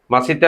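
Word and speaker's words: 맛있다: মজজা এটা কি হবে মজা মজা কিন্তু কোরিয়ান উচ্চারণ কি হবে মাসি ম আ সিয়ত ই দুইটা সিয়তে ত মাসি আ মাসিতা মানে কি মজা তারপরে কি আছে দেখুন ম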